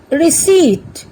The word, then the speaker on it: receipt: Pৰ উচ্চাৰণ উজ্জ হৈ থাকে the words are receipt psychology psycho cupboard psychiatrist pneumonia let's find out some other words where S is silent আহাচোন আমি এতিয়া Sৰ উচ্চাৰণ কতনো উজ্জ